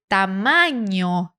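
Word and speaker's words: tamaño: acabei de pronunciar hein esse n com tio ele é equivalente ao NH do português muito fácil por exemplo na palavra ninho ninho ninho de Passarinho né a gente tem o NH para fazer esse som Então esse som ele é representado por uma só letra no espanhol letra em por isso que esta palavra Nós pronunciamos quase igual ao português tamanho qual é a diferença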